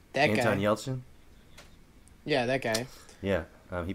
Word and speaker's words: Anton Yelchin: It's got Anton Yelchnik. I don't know how to say his name. That Anton guy. Anton Yelchin?